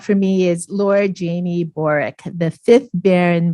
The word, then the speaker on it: Borwick: me is Lord Jamie borick the fifth Baron boric and I had to practice saying that because it's spelled borwick but pronounced boric Lord boric's topic was